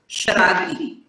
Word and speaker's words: शरारती: शरारती होता है देखिए आप जहां पे भी श और र का कॉम्बिनेशन आता है ना वहां पे आपका उच्चारण बिगड़ जाता है शरारती बोलिए फिर से शरारती